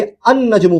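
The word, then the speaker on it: النجم: में अल लगा तो अल नजमु नहीं बोल रहे हैं। लाम प्रोनाउंस नहीं कर रहे बल्कि अन नजमु कह रहे हैं। लाम को स्किप कर दे रहे हैं।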